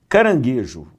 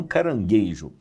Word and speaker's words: caranguejo: caranguejo e não carangueijo.